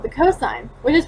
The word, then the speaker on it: cos: still pronounced like sine, and we abbreviate the word cosine like C-O-S, but it's still also pronounced like cosine.